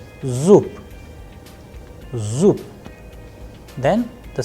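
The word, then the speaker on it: зуб: So, now we are going to discuss about the sound of be is changing into pe, zoop, zoop.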